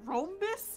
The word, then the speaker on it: rhombus: Yeah, how do you pronounce it? Rhombus? It's rhombus.